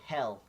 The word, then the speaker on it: Hel: watching Tartarus ah yes I made it so he'll not help the goddess hell was watching ah